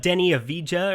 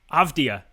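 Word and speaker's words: Deni Avdija: or huerta i i need to see his pronunciation correctly it's all right it's not denny avija or i i can't say his name to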